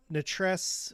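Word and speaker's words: Nattress: correcting my pronunciation uh nutress or NE is rhymes with mattress so mattress okay I should know that right you just swap out the M for an n and then yeah of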